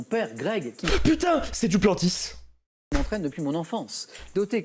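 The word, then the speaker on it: Duplantis: Ben ouais, c'est du Plantis. C'est le sauteur de perche. Du Planty. Ah, en vrai? En vrai, je suis désolé. Ou est-ce que ça se prononce juste Planty? Le Ouais. S se prononce.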